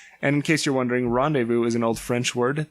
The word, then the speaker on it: rendezvous: in case you're wondering rendezvous is an old French word that means the Z is silent so the fur trade